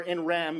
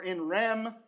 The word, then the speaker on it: in rem: in rain right or in Ram if you're like if you correctly admit that we don't know how to pronounce Latin and so we might as well just say it like it's English um um so in